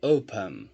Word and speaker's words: open: Qual das duas? A primeira, o O, tá? Se você quiser ouvir também. Open. Ok? A primeira, O, é a primeira que é forte. Então temos aqui 2 sílabas e o final dele, né, não é tônico. A tônica está na primeira.